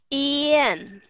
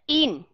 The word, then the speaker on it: yên: hay không các bạn nó không còn là E nữa mà nó là ye y y nhớ là chúng ta bắt đầu bằng cái chữ y chúng ta hạ cái miệng xuống đọc ra là chữ Ê y y đúng rồi yên mà không phải là in nó khó ok ừ